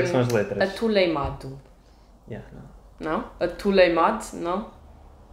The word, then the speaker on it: atoleimado: Atuleimado é um tule. Atuleimado. Ah, uma pessoa que é meio tolinha. Sim, um tule. Aí é bem. É um atuleimado.